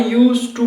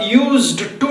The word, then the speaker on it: used to: वैसे लिखा जाता है, लेकिन हम आई यूज्ड टू नहीं बोलते हैं। आई यूज टू यानी डी का इस्तेमाल हम जो है ना, डी को हम साइलेंट करते हैं, हम प्रोनाउंस उसको नहीं करते हैं।